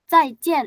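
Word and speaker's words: 再见: Cai bukan zai. Bukan zai tapi cai. Cai. Heeh. Cai cin. Enggak ada angin. Cai cin. C cai cin.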